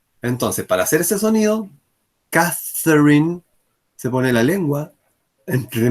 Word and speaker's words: Catherine: Ahí está, Catherine, miren. Entonces, esta pronunciación de esa TH es el mismo sonido que nosotros hacemos en inglés cuando decimos gracias, cuando decimos thank you.